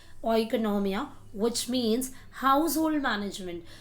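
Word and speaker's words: οἰκονομία: Actual pronunciation according to the Greek word is ओइकोनॉमिया, which means house hold management.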